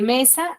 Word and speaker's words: mesa: Y cumple sí, porque la mayor fuerza de voz de mesa es me, ¿cierto? Es me.